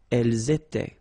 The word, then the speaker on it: étaient: Nous étions, vous étiez, ils étaient, liaison as well here, and then remember, this is not pronounced. Elles étaient.